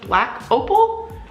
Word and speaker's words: Black Opal: is from the brand i think it's pronounced black opal blk slash opl and i found this at